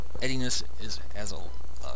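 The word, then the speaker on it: endianness: known as something called ediness. I didn't spell that right. It's pronounced ediness.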